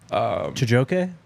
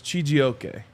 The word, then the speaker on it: Chijioke: Chijoke? So the comment said it's Chijioke. Okay.